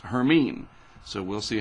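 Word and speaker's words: Hermine: this will be the H storm and it's pronounced herine so we'll see how that works out that's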